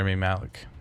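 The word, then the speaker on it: Rami Malek: Remy Malek? I think it's Malik, him. I think. Yeah. Remy Malik. That's how you say it.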